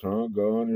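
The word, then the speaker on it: Geaux: big Saints fan so uh those Saints and that's spelled GE Au X so um go s anyway uh let me start y'all off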